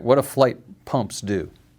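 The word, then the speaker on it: Flygt: And if you're in the US, it's flight. Fleck. You pronounce the G. Yeah. Flight flight. Flight. F like flight. Like I'm taking a flight.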